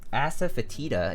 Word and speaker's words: asafoetida: can't like yeah yeah that was it gg asafoetida is how you pronounce it i see asafoetida thank you for